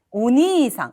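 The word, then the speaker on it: お兄さん: 우리 형자를 쓰게 되면 오니상, 요걸 니라고 읽어요.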